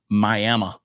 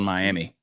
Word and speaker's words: Miami: will be in um miam which is spelled Miami miam Oklahoma are you talking to